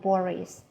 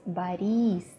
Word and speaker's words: Boris: his name was very gentle his name wasn't Boris his name was buddies buddies in Russian we don't have words we